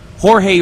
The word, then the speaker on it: Jorge: cat the tech specialist Jorge or or George as he's referred to into the game but it spelled like Jorge uh the machine gunner